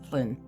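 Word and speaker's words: Hlín: 27 other asor names now you might hear a slight change in my pronunciation occasionally when I mention Flynn the h l i n version is one version of the spelling and for name but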